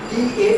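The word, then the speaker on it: Dao: Oriental philosophy is d d a o pronounce as da so these are words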